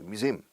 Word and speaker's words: museum: Recuerda la pronunciación de museo. Todos miura tarjeta SIM del teléfono. Miura SIM, museum. Stress the second syllable, museum.